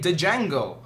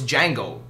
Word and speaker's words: Django: what I'm saying like you spell it with a d if I didn't know you I'm going to say Django hey Django Django the DSM if your name's Django it's Django don't put the [